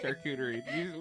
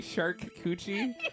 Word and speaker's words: charcuterie: Charcuterie. What did you say? Charcuterie. Did you say shark coochie?